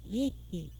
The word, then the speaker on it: Worcester: Her grandfather was Samuel Worcester. Now you'll spell that W-O-R-C-E-S-T-E-R. but it's pronounced, as so many English names are, in a different way. It's pronounced whiskey.